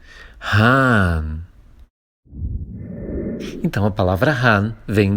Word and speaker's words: Hahn: substantivo, e depois tem aquele outro H que não se pronuncia justo depois do A, mas que torna o A um pouquinho mais longo.